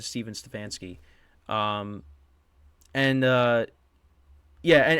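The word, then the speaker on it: Stefanski: and um yeah so Kevin stefansky not stepen stefansky ended up winning uh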